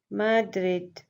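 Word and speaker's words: Madrid: तो capital mean Darul हुकूमत क्या है कंट्री स्पेन की माद्रिद. माद्रिद pronounce it again माद्रिद.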